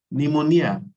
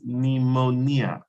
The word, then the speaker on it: pneumonia: say pin number it's pneumonia okay yeah so the p is silent so it's pneumonia um of course of